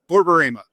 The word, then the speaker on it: Borborema: And how do I pronounce Borborema? Borborema.